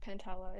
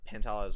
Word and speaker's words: Pantala: it pantala pentala yeah i call it pantala it's a pentala or pantela pantala i put a i put like a flatter a sound on it but um pantala's actually